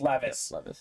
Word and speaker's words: Levis: probably better than than is it Levis or Levis I think it's Levis I think it's pronounced Levis uh Kentucky was very